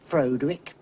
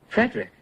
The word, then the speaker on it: Frederick: Do you also say Froderick? No, Frederick.